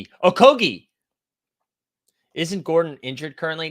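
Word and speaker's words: Okogie: doing that uh okay so g-h-e is a g-h-e-e is a hard G okogi isn't Gordon injured currently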